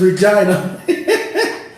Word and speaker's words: Regina: Yo, it's Regina.